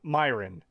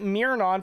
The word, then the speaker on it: Myron: How do you get Mirnon from Myron any other way? Here, no. Oh god. And how do you even get the E sound from Y?